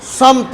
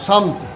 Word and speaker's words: سمت: اس کا درست تلفظ سمت ہے، سین پر زبر ہے، میم ساکن ہے، سمت۔ محبت عام ہے یہ